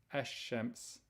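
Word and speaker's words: الشمس: after the lamb and you don't pronounce the lamb when you say this word you say eshems okay so you say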